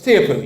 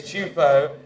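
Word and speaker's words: Teahupoo: T isn't it yeah he's got this it's tioo your accent on the wrong salable is it don't listen to Rich Richi it is chupo and it is going to win the stairs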